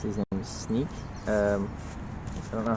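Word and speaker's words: Sneek: over here all right hello it's his name's sneak um i don't know how it's spelled get more cards asap i know i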